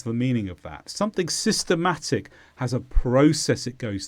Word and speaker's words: systematic: is an adjective and the stress is on Ma systematic and the first meaning is